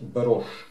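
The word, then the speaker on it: Bairoch: Ну, я его назвал Байрах, если же это не немец, а француз, то тогда правильнее говорить Берош. Ну, я не знаю, кто он по происхождению, поэтому я говорю Байрах. Так как оно пишется.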